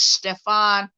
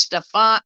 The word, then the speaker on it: Stepan: y'all to see something his name is stefan uh stepan i think that's how you say it um bandera that's his